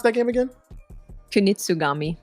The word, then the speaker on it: Kunitsugami: How do you pronounce that game again? Kunitsugami.